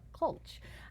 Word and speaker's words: Klch: never known how to pronounce her last name is spelled k lch but it's rhonda cole CH who knew I mean I've known her for